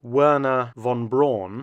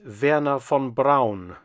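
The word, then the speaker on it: Wernher von Braun: pronunciation of his name most Americans call him Werner Von braw but his actual name in German is Vera Fon Brown and in fact he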